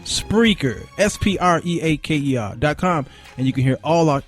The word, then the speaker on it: Spreaker: Spreaker.